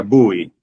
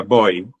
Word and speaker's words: Bowie: cosa hago una acotación en Texas a se se le pronuncia bui en otros estados se le pronuncia bo por eso cuando uno